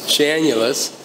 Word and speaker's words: Janulis: Yeah, so we called Jeff Janulis, or Janulis if you want to pronounce his name wrong. It's Janulis.